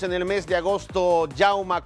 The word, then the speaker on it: Jaume: el mes de agosto yauma Cuellar así se pronuncia su nombre yauma Porque es un nombre Catalán era nacido en España